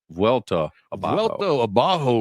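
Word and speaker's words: Vuelta Abajo: in a bajo region I know that butchered that it's the vet I would call it VTA welto abajo region I think that price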